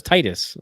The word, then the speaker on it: Titus: what's the knight's name I thought it was Titus Am I Wrong Titus did I say it wrong oh you think you said thus yeah oh I'm sorry Titus my bad is it it could be it could be thus no it's Titus you correct it's Titus uh